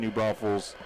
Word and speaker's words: New Braunfels: There is only one S in New Braunfels, and you'll find it at the end.